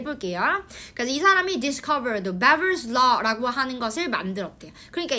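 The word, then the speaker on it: Weber: 이게 왜냐면 그 독일이니어가지고 지금 위에서 나온 것처럼 다른 독일 그런 사람이어 가지고이 W가 B처럼 발음이 되거든요. 그래서 beber이라고 발음을 해 볼게요. 그래서이 사람이 discovered beber law라고 하는 것을 만들었대요.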